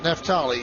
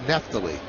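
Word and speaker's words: Neftalí: It's been mispronounced all of last year. And he never said anything. It's not Nefali. It's Neptally.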